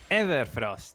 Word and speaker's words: Everfrost: It rhymes with never cost. Everfrost.